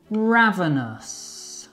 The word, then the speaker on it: ravenous: Ravenous. Ravenous. I'm absolutely ravenous. Ravenous? Sounds like ravenel. That's a good way to remember.